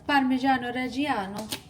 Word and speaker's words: Parmigiano Reggiano: All right, and then we're gonna add some Parmigiano Reggiano. You have to say it like that, fun fact, in order to eat it.